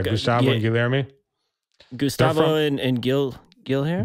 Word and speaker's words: Guilherme: Gustavo and Guilherme? Guilherme. Guilherme. Okay. Do Portuguese pronunciation is a whole other word.